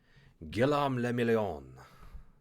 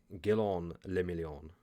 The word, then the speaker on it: Guillaume le Million: Guillaume le Million. If it doesn't rhyme, you're not pronouncing it right. Oh, I'm sorry. I'm Guillaume le Million.